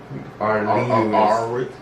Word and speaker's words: Aurelius: How do you pronounce that last name? Aurelius.